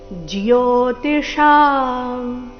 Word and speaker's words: ಜ್ಯೋತಿಷಾಂ: ಬರಬೇಕು ಆದಿತ್ಯನಾಮಹೌ ವಿಷ್ಣುರ್ ವಿಷ್ಣುರ್ ಜ್ಯೋತಿಷಾಂ ಇಲ್ಲಿ ಜೋ ಅಂತ ಇಲ್ಲ ಜ ಅಧಿಕ ಯೋ ಸೇರಿ ಜಿಯೋ ಜಿಯೋತಿಶಾಂ ರವಿರೌಂಶುಮಾನ್ ರವಿರೌಂಶು ರೌಶುಮಾನ್ ಮರೀಚಿರ್